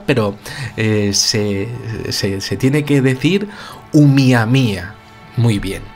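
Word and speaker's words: ʻOumuamua: en lengua hawaiana pues se llamaba miami a se escribe pero se tiene que decir un miami a muy bien y esto que significa en lengua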